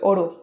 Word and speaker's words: auto: আমাদের পরের শব্দ ওঠো ওঠো এটা ওরা যদি ফ্ল্যাপিং করে উচ্চারণ করবে ওড়ো ওড়ো ওড়ো আমরা সেন্টেন্সে ব্যবহার করতে